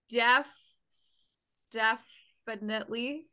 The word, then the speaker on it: DefStephanitely: Say it one syllable at a time. DefStephanitely.